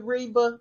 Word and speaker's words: Reva: Listen, I love Reva. I'm rocking with Reva.